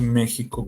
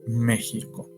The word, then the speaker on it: México: por eso es que México se sigue escribiendo con x pero se pronuncia con j Sí para que me